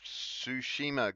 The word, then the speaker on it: Tsushima: Ghost of Tsushima.